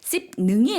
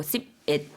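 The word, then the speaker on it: สิบเอ็ด: 가겠습니다 씩 100 개 씹 능이 아니고 씹 옛 이거든요 그래서 아 10일 20일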